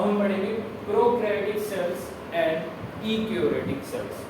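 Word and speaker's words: eukaryotic: यूकैरियोटिक भी बोलते हैं, कुछ लोग ई भी बोलते हैं, बट ई हमारे यहाँ पे साइलेंट होता है, तो इसको क्या बोलते हैं, यूकैरियोटिक सेल।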